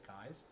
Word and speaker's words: Kies: Logan Kies, and I'll say it right, Logan Kies. Everybody else wants to call him Keys. It's Kies.